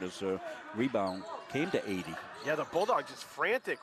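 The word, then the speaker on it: Adey: So we checked the pronunciations with Coach by email as well as Coach Gane, and they told us 80, so that's how we're pronouncing A-D-E-Y.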